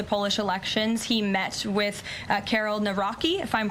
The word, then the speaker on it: Karol Nawrocki: He met with Karol Nawrocki, if I'm pronouncing that correctly.